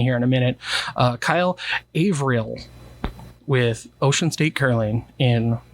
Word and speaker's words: Averill: It's somewhere between those 2 points, so Averill. Averill. So okay. April, but just slurring it, right? Okay, Averill. April, but French.